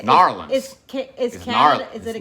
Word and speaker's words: New Orleans: How do you say it? Narlands. It's Narlands. Kind of like churn.